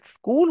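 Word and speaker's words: school: فعندنا بعض الاكسبشن او بعض الاستثناءات زي كلمه سكول وطبعا هنقابل كتير في النص وساعات هقول لكم لا دي استثناء مش بننطق السي والاتش احنا الا هنا هي بتقول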